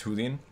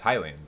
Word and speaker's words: Hylian: Is wanting to pronounce Hylian as Hulian? Pretty sure it's Hylian, like Hyrule.